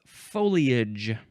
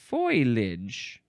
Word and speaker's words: foliage: foliage or foilage. Some people swip swap the L and the I and they say folilage.